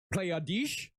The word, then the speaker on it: Pleiades: real it sounds horrifying you get a good pronunciation on that yeah playa dis that's how you i took german for